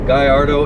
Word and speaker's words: Gallardo: get what I'm getting at when I say Guyardo, or in most cases I just call it Gallardo. Gallardo is the way I pronounce it, and that's the way I understand that's the way to be pronounced.